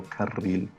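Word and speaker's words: ferrocarril: a word which is it doesn't sound like pharaoh it sounds like ferraro ferrocarbil yeah it sounds great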